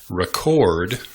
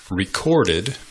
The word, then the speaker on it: record: is the rule is you pronounce the noun by emphasizing the first syllable you pronounce the verb by emphasizing the second syllable sorry i had to